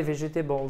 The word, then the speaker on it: vegetables: Non, ce n'est pas des vegetables, c'est des vegetables. Just vegetables, yeah. Et le E ici ne se prononce pas. Vous pouvez l'oublier.